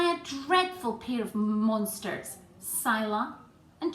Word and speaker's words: Scylla: of different ways, but I'm going to call these monsters, Scylla and Charybdis. I hope that's the right way to pronounce it. I've actually looked up how to pronounce it and that's how they suggest, so let's go with that.